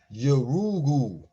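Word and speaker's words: Yurugu: See, the U's is oo. So it's Yorugu, an African-centered critique of European cultural thought and behavior by a woman, Dr.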